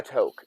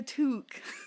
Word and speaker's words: toque: tube and i'm like a toke is that a surprise toque yeah i thought it was always crafted no it's a toque that is so canadian pronunciation makes too much sense i don't like it